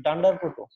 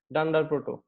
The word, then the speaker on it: __proto__: বারবার উচ্চারণ করতে হয়, এই জন্য এটাকে স্পেশাল নাম অনেকে উচ্চারণ করে, সেটা ডান্ডার প্রোটো।